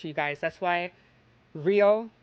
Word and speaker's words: Rio: When an R is at the beginning of a word in Portuguese, it sounds like an H, you guys. That's why Rio like Rio de Janeiro is pronounced um hio de Janeiro.